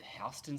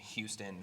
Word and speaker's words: Houston: what street full disclosure i was saying houston for so long until one of my friends like started working a lot like retail down there started working down there and he was like yo it's actually houston i was like no